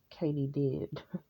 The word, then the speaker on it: katydid: Like Katie did.